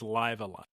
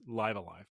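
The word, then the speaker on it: Live A Live: So I ended up using that, finding a used copy of Live Alive or Live Alive. It's Live Alive.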